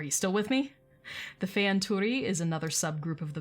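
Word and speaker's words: Fëanturi: spirit or the fear so fey anturi think feya it means spirit again the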